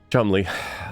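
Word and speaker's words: Cholmondeley: chamley again chy yep not not how I would pronounce that name chomley Chumley um CH yep the chum I just like how do you get there from that how do you get to Chumley from over a long period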